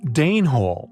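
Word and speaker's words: dene hole: Den hole, yet pronounced Dane hole after the Danes.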